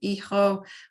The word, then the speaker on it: hijo: Obviously, we've got the silent H going on here with hijo.